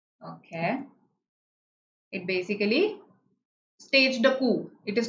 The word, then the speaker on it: coup: And when the military supplants the existing ruler, the word for that is coup, staging a coup. P is silent here, okay?